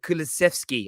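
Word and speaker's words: Kulusevski: ben uh bentenkor and i want to pronounce the second game the guy's name right is in dejan uh kulaszewski i think it's how it's pronounced they're done deals they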